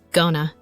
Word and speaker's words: going to: Pronunciation note: Going to pronounced as gona.